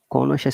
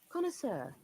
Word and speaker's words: connoisseur: Connoisseur seems to be a French word. Let me find out its pronunciation correctly. Connoisseur.